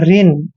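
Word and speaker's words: reign: ई आई जी एन जब भी एन से पहले जी आता है तो जी हमेशा वहां पर साइलेंट होता है इसलिए आर का उच्चारण र करते हैं और ई आई का उ ई करेंगे औरन को न पढ़ते हैं ऋण ऋण ऋण होता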